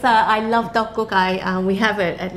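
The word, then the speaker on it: 떡국: what we're going to make today which is dokgok which is the traditional korean rice cake soup you pronounce that perfectly it's not easy yes yeah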